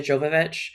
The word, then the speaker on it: Jovovich: a little bit about, and I say her name wrong, Mia Jovovich? Yeah. Jovovich.